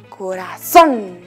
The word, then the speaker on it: corazón: Corazón. Como nuestro corazoncito, nuestra chuimita que está en nuestro pecho. Lleva también acento en la vocal O.